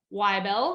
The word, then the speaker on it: Wibell: like katherine hepburn y bell that's my last name at swedish so w-i-b-e-l-l and of